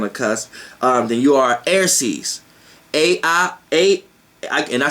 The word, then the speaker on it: Airces: comes together on a cusp, then you are Airces. And I spell it A-I-R-C-E-S.